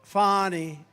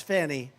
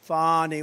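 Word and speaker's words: Fani: Has anybody Fawnie, it's pronounced Fonnie. F A N I. That's Fanny. But she likes it Fawnie.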